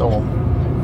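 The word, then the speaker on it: Ogham: There's a 4 ohm stones up here on the left hand side. These are spelled O-G-H-A-M but pronounced ohm. The ohm lettering consists of horizontal and vertical lines.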